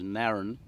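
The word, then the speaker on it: Narran: the lauren which is um uh it's now pronounced as naren and that's the narrow river which goes down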